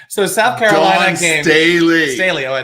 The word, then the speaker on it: Staley: off somebody's ham hog okay get to Don Stanley so South Carolina game Staley Staley oh I said it wrong too South